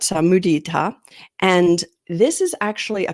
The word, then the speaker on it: mudita: The Sanskrit Pali term is mudita, and that's pronounced in a lot of different ways, but mudita.